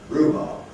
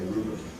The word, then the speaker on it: rhubarb: Rhubarb, on the first syllable, but notice that the second syllable still has a full vowel. We don't say rhubarb, we say rhubarb.